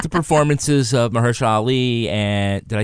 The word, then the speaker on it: Mahershala Ali: But I did like the performances of Mahershala Ali and, did I say it right? Mahershala Ali.